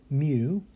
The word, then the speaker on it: mu: would be that so this symbol is the greek letter mu and the phonetics is mu this is the greek